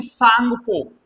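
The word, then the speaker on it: Tsangpo: इसका नाम वहां पर इसे कहते हैं सांगपो। यहां पर ये टी साइलेंट है। जैसे सुनामी में टी साइलेंट होता है। स्पेलिंग ये वाली है। लेकिन ये टी पढ़ी नहीं जाती।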